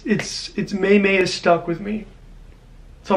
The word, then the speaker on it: Maymay: It's pronounced Maymay, and I say Maymay, so I'm sorry. I do apologize. I always say it wrong.